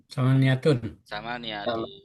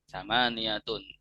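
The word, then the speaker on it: ثمانية: Samaniyah bacanya apa? Tantintun? Samaniyatun. Ya. Kenapa di sini kok ada tomaten? Karena mufrad. Karena nggak ada alnya. Ada alnya. Karena nggak ada alnya. Kemudian bukan mudhof juga. Samaniyatun.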